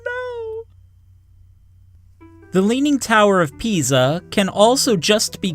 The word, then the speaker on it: Pisa: the leaning tower of Pisa. Yeah, that is pronounced Pisa. It is Italian. So the S is pronounced like a Z and the I sounds like E.